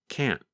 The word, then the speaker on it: can't: harder to hear, and it just sounds like this, can't. In American English, we call that a held T.